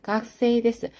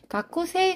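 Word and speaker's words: がくせい: " 가쿠세이데스 ." " 가쿠세 " 가 아니라 " 가쿠세이 " 라고 읽어야 합니다 .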